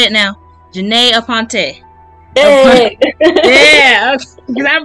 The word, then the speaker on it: Janey Aponte: Janey Aponte. Hey. Yeah, because I butchered it.